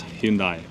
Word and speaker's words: Hyundai: if you think about how do you say hindai Hundai that's so funny like where I come from it's Hyundai it's I think it's Hyundai in America as well whatever like Hyundai Samsung